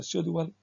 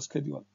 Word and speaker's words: schedule: We have two ways, either schedule or schedule. The American pronunciation is schedule, the British is schedule.